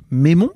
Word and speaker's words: Meimon: et bonne écoute on est donc avec mémo c'est ça oui c'est comme ça que ça se prononce ton nom c'est ça et c'est pas